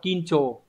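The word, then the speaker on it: 緊張: Hán tự của chúng ta là chữ khẩn và chữ trương, đọc là kincho.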